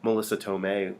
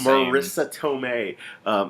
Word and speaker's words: Marisa Tomei: wrong last time too i can't say her name right like I called her eight different things Melissa Marissa elicits all is Marisa Tomei they even threw out